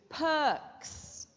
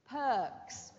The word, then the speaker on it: perks: Is the R silent or pronounced in this word? It's silent. Perks. Perks. You can't hear me saying perks. No, it's perks. It's a silent R.